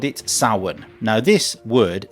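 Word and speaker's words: Samhain: So the ancient Kelts called it sin. Now this word saun is spelled s a m h a i n. Just to confuse people even more. The spelling and the pronunciation are completely different.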